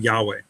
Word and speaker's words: Yahweh: we have yahwa or we could of course change the A's to an E and we have Yahweh which is what we which is a very acceptable pronunciation whether it's correct or